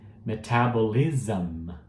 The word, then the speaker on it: metabolism: Metabolism. Metabolism. Então você viu que o SM vira um ZAM no final, tá? Uma boa dica e muito